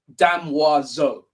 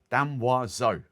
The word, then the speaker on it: Damoiseau: it properly so um think of Madame wazel Dam wazo dam was so I can say that